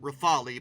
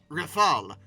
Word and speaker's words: Rafale: The Dassault Rafale, which is how you say it. Historically, I've sometimes called it Rafale, but that's not right. Apparently it's Rafale, which is French for gust of wind or burst of fire.